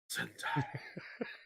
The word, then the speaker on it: Zendaya: Yes, you got to say her name like it's a perfume. Zendaya.